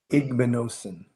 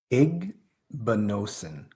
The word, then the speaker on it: Igbinosun: Because his last name is a tricky one to pronounce. Igbinosun. Say it again. Igbinosun.